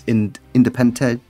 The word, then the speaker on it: Independiente: Technically there's two, because there's Real Madrid B, and there's Independiente.